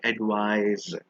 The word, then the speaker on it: advise: S sound advice but the one with the S actually has the z sound like advice the one with the